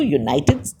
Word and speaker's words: United: Roberts is a United States Senator because United is pronounced as YU, United.